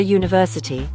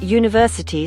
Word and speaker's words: university: For example, a cat, a big dog, or a university. Do note that university starts with a Y consonant sound.